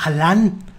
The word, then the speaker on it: Alan: Ayer le preguntaban a Alan Estrada, que por cierto ayer descubrí que se llama Alan. Alan. Pero nadie le dice Alan. Acento en la segunda A.